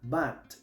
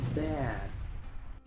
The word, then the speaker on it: bad: Muchos pronuncian esta palabra bat o bad, pero aquí la a se pronuncia ea. La d no se pronuncia como una t, casi no hace un sonido. La d se usa para parar el escape de aire. Así que esta palabra se pronuncia bad.